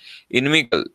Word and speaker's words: inimical: Inimical, its pronunciation is like enemy.